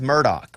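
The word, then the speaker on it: Murdaugh: Alex, and his name is Murdoch, right? Even though it's Yes. spelled Murdoch? Yep. And it's Alec. Even though it's spelled Alex?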